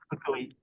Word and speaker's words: Fukui: How did you, is that the right pronunciation? Yeah, Index? Fukui.